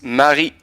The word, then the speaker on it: Marie: Jonas he likes like it's Marie so more like the French pronunciation yeah Mari awesome we'll be keeping